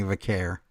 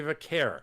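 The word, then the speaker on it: Vaquer: You're supposed to care about Stephanie Vare. No. Oh, Stephanie Vakare. Thank you. Q U E R. I know, but that's just how you pronounce it.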